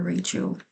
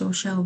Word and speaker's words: Rachel: I kept calling her Rachel in the pool and she said, "Oh no, my name is Rochelle, but it's okay because I actually spell it Rachel."